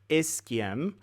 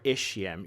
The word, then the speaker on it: ischium: here also highlighted and this is known as the ischium or ischium you can pronounce it both ways I've heard both ways so I think it's accepted as both ways now the third bone